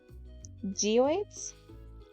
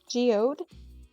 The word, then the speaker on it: geode: geoids that is how what I've always called it how bad am I mispronouncing it that is how I have literally